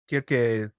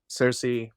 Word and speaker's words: Kirke: I find Kirke, Cersei, it's always going to be this double pronunciation because we most commonly call her Cersei, but she is Kirke.